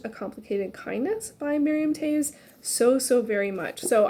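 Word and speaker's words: Toews: because i was like taves like paves i think is the correct pronunciation i really really really really loved a complicated kindness by miriam taves so so very much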